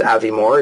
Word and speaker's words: Avimor: that for a year it's Avi Moore he's still at Avi